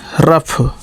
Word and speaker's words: rough: शब्द के अंत में आता है तो उसका उच्चारण फा होता है। TOUGH का क्या हो जाएगा, टफ, कठिन। ROUGH रफ, रफ का मतलब भद्दा या खराब, ठीक है।